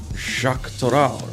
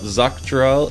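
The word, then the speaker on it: Xak Tural: in the wilds of Shaktoral. I learned how to say it. It's not Zaktoral, it's Shak. Like Shakti in the Star Wars universe.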